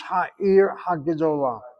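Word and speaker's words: העיר הגדולה: Add the hey in front of the ear, so it's ha ear ha Gedolah.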